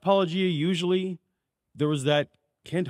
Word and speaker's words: Paulogia: It's pronounced Paulogia usually.